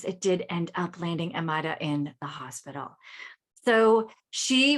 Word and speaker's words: Amayra: Today we have Amayra. Did I pronounce that correct?